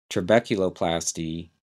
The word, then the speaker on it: trabeculoplasty: laser tulo plasti l a s e r trabeculoplasty TR r r a b e c u